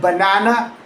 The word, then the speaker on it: banana: The middle syllable is stressed and clear. A full a sound. But the first and last syllables they are not really ba and na. The way they are written. They are both actually that same lazy schwa sound.